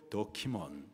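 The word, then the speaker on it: δόκιμον: 인정된 자, 헬라 발음으로 도키몬, 뜻은 시험을 통과한 자입니다.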